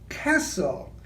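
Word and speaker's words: כסיל: And then Orion is Kessel, and it means the hand that supports and controls.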